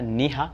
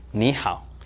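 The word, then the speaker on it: 你好: En réalité, ce n'est pas Ni Ha, c'est Ni Hao.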